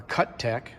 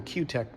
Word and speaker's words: Cutech: I've had my 10-in Q-t jointer now, or Cuttec. I've heard people pronounce it both ways. Uh, for some reason, Q-tech sounds better to me.